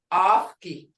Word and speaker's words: ofki: Long vowels, ofki. Hear that? Ofki.